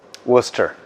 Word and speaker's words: Worcester: How do you pronounce this? Worcester. So, Worcester sauce.